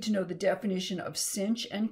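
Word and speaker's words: sinh: we just need to know the definition of cinch and kosh and that's how you pronounce these two functions this is kosh and this is cinch and the other hyperbolic functions are defined in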